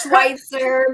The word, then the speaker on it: Schweitzer: did not ask before this on how to pronounce her last name, but her first name is. It's a tough one. It's Schweitzer, but you can call me Coach.